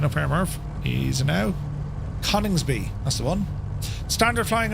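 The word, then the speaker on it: Coningsby: Battle of Britain Memorial flight up to RAF Connby or Conningsby. How do you pronounce it? Straight up here, Murf. He's now Conningsby.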